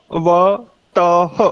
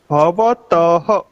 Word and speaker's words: भवतः: भवतः, त के पीछे जो दो बिंदी है उसको विसर्ग बोलते हैं, विसर्ग। और ह जैसा इसका उच्चारण होता है आधा ह। भवतः, भवतः बोल के देखेंगे, एक बार प्रयत्न करेंगे सभी।